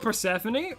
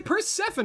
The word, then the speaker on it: Persephone: What about the American pronunciation? American is Persephone, which sounds more natural to me instead of Persephone. I think Persephone sounds better to me.